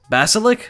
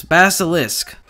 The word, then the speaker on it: Basilisk: I'm so bad at pronouncing the name of that gun because it looks like ballistic at quick glance, but it's not. It's Basilisk.